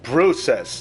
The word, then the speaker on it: Bruces: Oh, Bruces. That's what it's called. This thing's called a Bruces. Not Bruce Lee. Bruces.